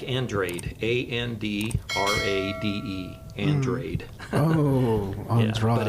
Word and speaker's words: Andrade: go ahead and explain it's not the way I pronounce it it's it's Andrade it's not and Mexican a lot of people say Andrade and Andrade and but if I said it in Portuguese it would be Mr Andra Andra how do you